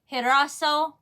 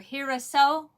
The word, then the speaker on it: girasol: It's pronounced with an H. Girasol. Or Girasol.